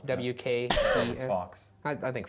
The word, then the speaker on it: Fawkes: I don't know how it's pronounced. F-A-W-K-E-S. Fox. I think Fox.